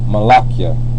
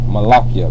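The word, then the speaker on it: מלאכי: means my messenger and the way you pronounce it is malakia all right malakia because when you have a y Onana end with the H is not the most High's name it makes it possessive the yah on the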